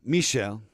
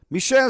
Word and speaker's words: Michel: geologist Michael Cifrey or Michael Michael Michelle got to be the French pronunciation Michel Michelle Cifra he descended into a